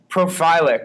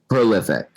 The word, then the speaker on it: prolific: Oh, he's he's profilic. Is that how you say it? Prolific. Prolific. That's it.